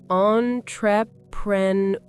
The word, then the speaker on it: entrepreneur: It's a French word, so we try to pronounce it the French way.